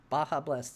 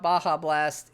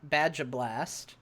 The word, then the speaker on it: Baja Blast: The only fun thing about Baja Blast is, as a joke, we started calling it Badja Blast because it's fun to mispronounce things.